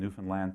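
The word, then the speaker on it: Newfoundland: uh resume but I was a professor in Newan land for that's how you say it by the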